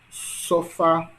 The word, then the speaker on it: sofá: Perceba que a sílaba mais forte são quais, né? Em café é fé, em sofá é fá, em pastel é tel, pastel, né?